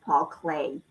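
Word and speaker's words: Paul Klee: Sue says his name is pronounced Paul Clay. Paul Clay.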